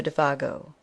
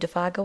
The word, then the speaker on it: Défago: Good luck, Monsieur Défago," he added facetiously, giving the name its French pronunciation for once.